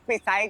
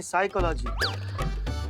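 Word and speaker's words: psychology: हम तो करते हैं पिसाई का लागी तो साइकोलॉजी नहीं साइकोलॉजी पी साइलेंट होता है तुम हो जा साइलेंट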